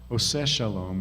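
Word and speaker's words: עושה שלום: osei osei which we usually say is osei ose Shalom is the correct pronunciation of the traditional prayer but oh say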